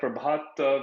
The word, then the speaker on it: Prabhath: you know I'm nitin Rana and I have prabhat with me did I pronounce the name right yes yes uh Nathan